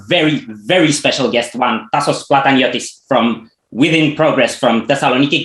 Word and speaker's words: Tasos Plataniotis: we have a very very special guest one tassos plataniotis from within progress from thessaloniki greece thank you